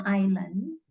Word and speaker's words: island: bisa menggunakan on an Island cara membacanya walaupun di sini tulisannya tuh pakai s ada Island tapi cara membacanya itu s-nya enggak dibaca jadi ien Island I